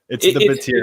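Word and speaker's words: Bátiri: So and you faced the Battery or Batari. Batiri. I give up. Don't feel bad. I didn't know how to pronounce it either at first. It's Batiri.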